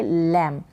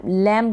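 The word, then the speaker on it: lamb: लैम्ब ना पढ़ें, बी का प्रोनाउंसिएशन नहीं है, क्योंकि मैं रूल ही यही बता रही हूँ यहाँ पर, बी का जो प्रोनाउंसिएशन वो नहीं है, साइलेंट है बी।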